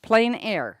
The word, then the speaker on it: plein air: Plein air.